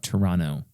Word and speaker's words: Toronto: me Toronto Blue Jays you're not supposed to pronounce the second te Toronto no Toronto Toronto is that really